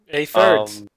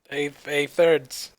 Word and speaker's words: A3ders: I don't know how that's pronounced. Don't ask me. A-thirds. There's no R. A-thirds.